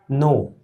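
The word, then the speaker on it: knee: तो कॉन्सेप्ट हमारा यही है कि के बाद जब एन आए तो के साइलेंट होता है, यानी कि ये जो के है ये चुप हो जाता है। तो ये जो लिखा है इस करेक्ट प्रोनाउंसिएशन इसका नो, नो लिखा है। ये नाइफ, ये नी, ये नाइट। इसको कनाइट नहीं पढ़ेंगे, इसको किदी नहीं पढ़ेंगे, इसको कनाइफ नहीं पढ़ेंगे, इसको कुनो नहीं पढ़ेंगे।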